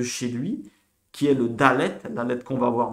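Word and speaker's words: דלת: Se prononce Dalet.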